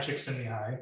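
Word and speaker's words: Csikszentmihalyi: which is Flow by mihai chicks in the eye is how you pronounce that gentleman's name at the bottom he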